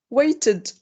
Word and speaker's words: weighted: Weighted. Weighted. Can you tell me if you can hear t, d, or id? Weighted. Id. Id. Perfect.